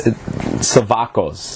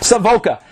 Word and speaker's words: Savoca: It's Savakos. I'm proud that Savoca. Oh my God, I said it wrong again. Jesus, listen to me. Savoca.